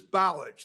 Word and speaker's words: Balich: Richmond, Williams, Dean, Schlottman, Ogala, Pretzel, Butler, Newquist, Balich, I've ever heard that. How do you say it? Say your name. My name is Balage. Like college would it be?